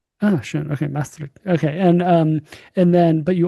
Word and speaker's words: Maastricht: That was almost perfect, Maastricht. Ah, sure. Okay, Maastricht.